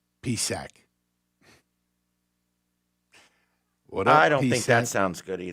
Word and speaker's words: Psaki: Mark in Lehigh just canceled the silent P in Saki. Psak.